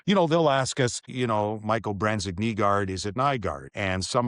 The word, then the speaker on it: Nygaard: ask us, Michael Branzig Nygaard, is it Nygaard? And some of our reporters in Detroit still, when they ask the question, will say Nygaard. Well, it's Nygaard.